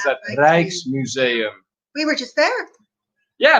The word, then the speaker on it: Rijksmuseum: So, oh, we're on to Dutch pronunciations now. Rijksmuseum, that's how you pronounce that. Rijksmuseum.